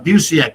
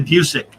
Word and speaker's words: Busiek: that uh that uh busiek did i'm sorry it's really music oh i'm just called abuse yet forever then i heard him pronounce his name it's music sorry my apologies to mr music well untold tales of